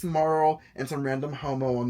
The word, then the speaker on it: Marl: Actually, we say her name. Her name is just Marl. Because her business name is Marl and B.